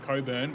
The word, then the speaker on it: Cockburn: I live near a town called Coburn, but it's spelled Cockburn.